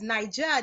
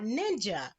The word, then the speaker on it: Nija: Nyjah but in parentheses it says Nyjah not ninja so explain that share with the listeners and humorous on what it is why you put not ninja absolutely so of course my name is spelled in AI J a but for some strange reason people have always decided to insert a second in so from kindergarten on